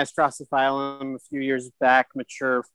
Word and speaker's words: Drosophyllum: how you say it i just say drosophilum rosoflin and then this i looked online before this to see what the pronunciation and there are several pronunciation and drastophylum is on too it just doesn't work so well in my mouth for some reason okay so